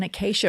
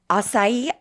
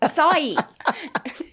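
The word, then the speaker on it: açaí: other day you were going to order an acai bowl and you left the office and you said, hey, Jenny, do you want one of those acacia bowls? I'm like, what is an acacia bowl?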